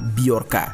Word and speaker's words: Bjorka: Hai nama biarkan tulisannya bhejo RK Ya seperti tulisan nama anaknya Agus Ringgo ini mana Kalau dibacanya bukan Bejo tetapi biarkan dia ini adalah seorang